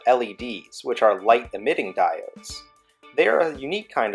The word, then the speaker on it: diode: was in the pipe a diode rhymes with my ode is a fancy word